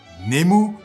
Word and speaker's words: Nemu: Alors, Nemu, qu'il faudra prononcer Nemu pour ne pas passer pour un bouffon, est un terme difficile à définir, mais vous me connaissez, j'aime les défis.